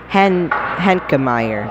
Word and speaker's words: Henkemeyer: From Isaac Henkemeyer. That's how you say it.